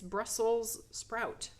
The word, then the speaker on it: Brussels sprout: That was a hard one for me. I know, I still say it wrong and have to remind myself. It's Brussels sprout.